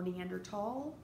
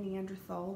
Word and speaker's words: Neanderthal: It is not Neanderthal. It has never been Neanderthal. Do not pronounce it Neanderthal. It's Neanderthal. Sometimes you'll see the Neanderthal spelled with a T. Sometimes you'll see it with a TH. It doesn't matter. It's still Neanderthal.